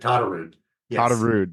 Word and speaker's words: Todderud: Pronounce it to Tarude.